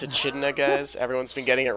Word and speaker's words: echidna: So I guess As well Tails as- So and I Charmy are pronounced going to it be wrong. hanging out too. It's echidna. It's echidna, guys.